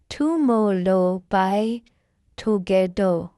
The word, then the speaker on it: Tomorrow X Together: Now we get an introduction to TXT, tomorrow X together, and pronouncing it is tomorrow by together.